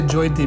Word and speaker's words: Jyoti: the way you say joyti because you know her name is actually jyoti which is spelled j-y-o but you pronounce it as j-o-y and i really believe